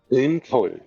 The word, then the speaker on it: Grünkohl: It's g, ru, grün. Yeah. Okay, yeah, that's what I thought. Grünkohl. Yes. And then the kohl is the öl sound that is.